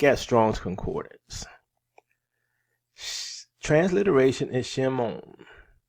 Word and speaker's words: Shimon: Transliteration is Shimon. Pronunciation Shimon.